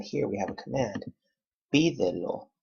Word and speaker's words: pídelo: Pídelo, accent on the third to the last syllable.